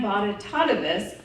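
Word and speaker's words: Bonitatibus: from our principal an B Tois who would tell us you can remember my name because it rhymes with hippopotamus but don't call me that so you'll never forget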